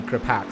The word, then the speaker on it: Gripax: I keep on in my I've been corrected in another broadcast before as saying it wrong and it needing to be Gripax.